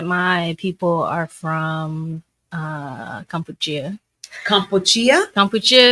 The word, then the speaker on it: Kampuchea: Kampuchea is how you actually say the name of what we now know as Cambodia.